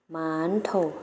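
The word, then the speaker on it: 馒头: ภาษา จีน แล้ว ก็ จะ เอา เสียบ กับ คล้าย ภาษา ไทย นะ คะ แต่ เรา จะ ออก เสียง ยาว กว่า นิด นึง แล้ว จะ เอา เสียง ว่า หมา นทก หมาน ปก หมาน โถ่ นัก เรียน แล้ว ออก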